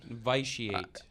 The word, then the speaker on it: vitiate: Is that how it's pronounced? That is its definition. Vitiate.